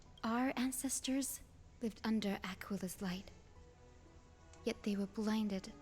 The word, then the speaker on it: Aquila: I keep wanting to pronounce it as Aquilla. Aquila.